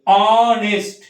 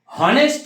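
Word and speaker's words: honest: অনেস্ট। হনেস্ট কিন্তু আমরা বলবো না, হনেস্ট বলবো না, কারণ এখানে এইচ এর উচ্চারণটা প্রোনাউন্সিয়েশনটা হয় না।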